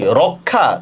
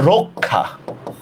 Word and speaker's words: রক্ষা: ও হয়ে গেছে গা সেম দেখেন এইটা কি রক্ষা না এটার উচ্চার হচ্ছে রক্ষা রক্ষা আমরা অক্ষর বলি